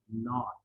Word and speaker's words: not: And this one, not, it's basically pronounced as NAWT, so not, right? इसको ज्यादा आपने NAAT नहीं कहना है, not, ठीक है?